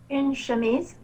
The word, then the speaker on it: chemise: c'est de le prononcer sans prononcer le de chemise une chemise ok donc je vous donne la prononciation une chemise donc une chemise c'est ainsi